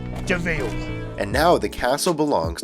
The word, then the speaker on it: de Vil: her new name he spelled devil but is pronounced deville and now the castle